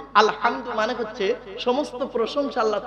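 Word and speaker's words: الحمد: আলহামদুলিল্লাহ রাব্বিল আলামিন আলহামদু এই গলার ভেতর থেকে হেটা উচ্চারণ করবেন আলহামদু আলহামদু মানে হচ্ছে সমস্ত প্রশংসা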